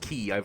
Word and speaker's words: quay: Again, why it's pronounced quay, I still don't fully get, but it is.